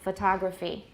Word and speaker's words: photography: have to fix it like if we've said photograph many times and suddenly we see the word photography we might say photo whoops photography kind of fashion just